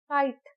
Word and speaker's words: kite: लिख सकते हैं KIT, but right spelling काइट ही होती है KITE। तो यहाँ ई लेटर जो है वो साइलेंट है, काइट। Hope, HOP hope, HOPE hope, तो यहाँ ई साइलेंट है। ई खुद नहीं बोलता लेकिन वॉवल को स्ट्रॉन्ग बना देता है।